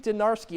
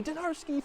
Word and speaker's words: Dinarski: But Lexi Dinarski, it doesn't rhyme with clutch, but it rhymes with three. Dinarski 3 in North Carolina grabs the home upset by double digits, 80-70.